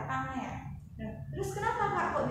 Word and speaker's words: Pangea: Jadi ini bacanya adalah Pangea.